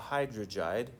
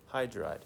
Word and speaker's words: hydride: to IDE we're not we're not going to call it hydrog too many syllables right hydride that's it that'll tell